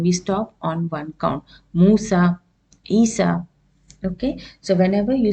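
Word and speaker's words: موسى: or ASA what happens we say Musa Isa we don't prolong it Musa or Isa we don't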